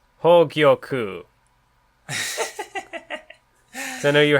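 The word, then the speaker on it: Hōgyoku: It's pronounced Hogyoku. So I know you were having some trouble with that before. Hogyoku. Well, because it's like, I keep wanting to say Gyokyu, but it's Gyoku, I think, right?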